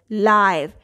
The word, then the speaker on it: live: And its heteronym is live. I is saying the long I sound.